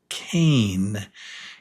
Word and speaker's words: cane: So the one on the right is cane. It has the long a sound.